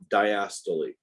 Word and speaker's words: diastole: The correct pronunciation is systole and diastole.